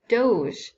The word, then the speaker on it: Doge: of the state was the duke or Doge that's how you pronounce this word right here so um at first